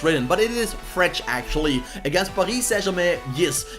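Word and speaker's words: Fred: Saint-Germain, and yes guys, you pronounce it as Fretch. I asked my Brazilian Shakhtar Donetsk fans and they told me people that call him Fret are just people that think you say a name like it's written, but it is Fretch actually.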